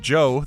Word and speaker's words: Djo: But everyone thinks his name is spelled differently. It's D-J-O. Said Joe, but this is Change by Joe.